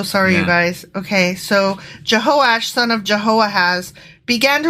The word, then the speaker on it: Jehoash: I mispronounced that. It's Jehoash.